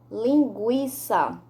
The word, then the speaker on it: linguiça: representam um único som nas palavras aguentar hein linguiça pronunciamos a letra u vamos repetir aguenta linguee